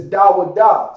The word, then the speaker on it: Dawada: Like my name is Dawada, so it's Da, and we'll get down to the Wa, and then Da.